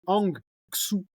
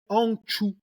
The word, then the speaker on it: Hang Xu: C'est que Hang Xu, d'accord? T'as dit Xu avec un X. Ah merde. En chinois, en tout cas, le X, tu le prononces ch. Donc, il s'appellerait Hangchu. On est d'accord.